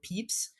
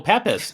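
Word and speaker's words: Pepys: of his contemporary Samuel Peeps. You know, it's spelled peep ys. You know that guy, Samuel Peeps. Yeah. Famous diaries. Yeah. Uh who everybody in their brain goes Samuel Pepis.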